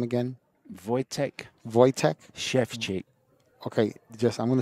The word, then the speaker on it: Wojtek: How is it that you pronounce this gentleman's name again? Wojtek.